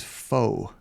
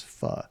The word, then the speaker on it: pho: I always said it was faux, and then somebody had to correct me and say it was pho.